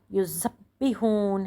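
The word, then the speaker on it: يُذَبِّحُونَ: इसमें जो है ना, युज़ब्बिहून है। तो युज़ब्बिहून, युज़ब्बिहून जब आता है तो इसकी प्रोनाउंसिएशन जे का ज़रा सा ज़ुबान की उस पे उससे लाना होता है, ज़ुबान की सिरे से को टच करके।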